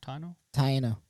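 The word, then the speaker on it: Taíno: How do you pronounce that? Taino? Taino.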